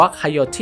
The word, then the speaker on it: coyote: กัน ก่อน เขา ว่า โค โย ตี้ ใน ภาษา อังกฤษ จริง ว่า อ่าน ว่า ไคโอ ที่ ใคร เอา เป็น ชื่อ